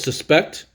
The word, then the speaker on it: suspect: So the way the accents on the second syllable, suspect, also means to suppose that something is true. I suspect that she knows more algebra than she thinks she does. Now, the noun version is suspect. The accent is stressed on the first syllable.